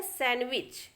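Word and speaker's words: sandwich: और सैंडविच, तो ये लिखा जरूर सैंडविच लग रहा है लेकिन इसको बोलना है सैंडविच।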